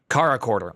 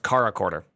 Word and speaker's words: CharaChorder: up to like 200 Cara quar oh it's pronounced car quar okay car quarter I'm